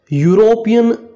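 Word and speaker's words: European: शुरू जरूर यहां पे इ से हुआ है जो कि एक वोवेल है इ से शुरू हुआ है। लेकिन देखो साउंड किसका आ रहा है? यू का आ रहा है। साउंड किसका आ रहा है? यू। ठीक है? जो हिंदी का यू है उसका साउंड आ रहा है हमारे पास।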